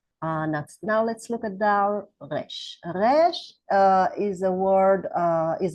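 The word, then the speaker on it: ריש: bit hard to pronunciate because you should think of it as an R really, but it's not pronounced like the R in English with a tone, but it's pronounced as a guttural consonant.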